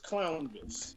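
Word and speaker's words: Clownvis: crown this clown clown it's like elvis clown this yes okay i've been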